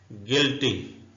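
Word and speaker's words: guilty: मतलब होता है बदमाश गिल्टी यू साइलेंट है गिल्टी का मतलब होता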